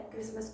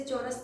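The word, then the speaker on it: chorus: Christmas song होता है, Christmas का गीत होता है एक प्रकार का। कोरस, इसे चोरस ना पढ़ के कोरस पढ़ेंगे, ग्रुप सॉन्ग होता है, ग्रुप ऑफ सॉन्ग, समूह गान।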